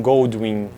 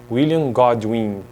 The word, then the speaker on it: William Godwin: né No próximo vídeo Quero tratar sobre William goldwin goldwin William godwin eu tenho dificuldade para pronunciar esses nomes aí sabia então gratius babou